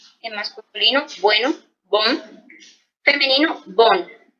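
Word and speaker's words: bonne: Por ejemplo, bon, en masculino, bueno, bon, femenino, bon. En la pronunciación del masculino es como más nasal y el femenino es más normalito, ¿listo?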